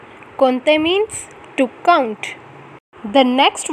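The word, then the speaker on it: compter: has an interesting pronunciation we never pronounce m nor p the pronunciation is konte konte means to count the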